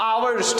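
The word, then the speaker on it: hours: सा आर्टिकल भरा जाएगा, आवर्स को पढ़ा जाता है आवर्स, ठीक है। इसको एच जो है वो साइलेंट होता है, इसलिए यहाँ एन भरा जाएगा, क्या भरा जाएगा, एन भरा जाएगा।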